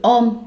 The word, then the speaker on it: hommes: Chữ ôm đọc là ôm vì chữ h câm.